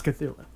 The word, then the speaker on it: Cthulhu: or Cthulhu huh huh you're opposed to put the tongue in the roof of your mouth and bark it out like a dog seriously that's how you pronounce Cthulhu it's meant to be